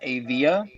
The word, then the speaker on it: Avea: I am investing in another company called I think it's pronounced Avia. It's AVEA, and another company that honestly, you know what, it was a complete gamble.